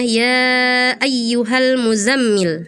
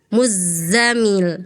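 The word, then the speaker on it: al-Muzzammil: Misalnya di surah almuzzamil, kakak bacanya ya ayyuhal muzammil harusnya ya ayyuhal muzza zaza muzzamil muzza zaza ya ada desisnya ya kemudian huruf ro yang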